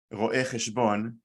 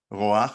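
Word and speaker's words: רואה חשבון: Ro'eh cheshbon. We don't say roach or roch, we just say ro'eh cheshbon.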